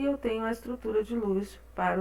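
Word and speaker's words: Lewis: L de luz certo desculpa que eu sempre Eh quero falar do jeito que está escrito né mas é estrutura de luz a pronúncia correta então eh verifiquem aqui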